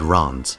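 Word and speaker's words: Reims: that he must be crowned at Ron's which is apparently how you say it despite it being spelled re Ms you know maybe the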